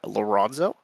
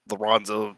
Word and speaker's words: Lorenzo: my name is Lorenzo all right that was pretty close I didn't want to butcher too badly uh don't worry I've heard Lorenzo laronzo yeah I don't really mind how you say it well you brought